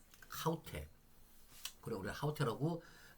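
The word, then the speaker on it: αὕτη: 이게 바로 아우테라 얘기하는 거죠. 이제 아우테를 하우테 왜? 제가 다시 말씀드릴게요. 아우테 아닙니다. 아우테 발음이 이가 아가 뭐란다고요? 거친 숙계를 위해서 하우테.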